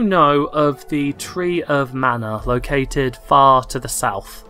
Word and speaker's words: mana: Of mana, like magic. Yeah, okay. You mana. Mana. Mana. There's no R in it.